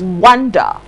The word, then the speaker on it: wonder: r w o and d e r is pronounced wonder for example i wonder who that man talking